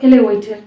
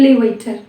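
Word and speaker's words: elevator: எலிவேட்டர், எலிஃபண்ட் அப்படின்னு சொல்லுவோம். பட் இங்கே நம்ம எப்படி சொல்லணும்னா ஈன்றதை ஈனே நீங்கள் ப்ரொனவுன்ஸ் பண்ணக்கூடாது, எலவேட்டர் அப்படின்னு சொல்லணும். ஏன்ற மாதிரி நம்ம ப்ரொனவுன்ஸ் பண்ண போகிறோம். எலவேட்டர், எலிஃபண்ட், நாட் எலி.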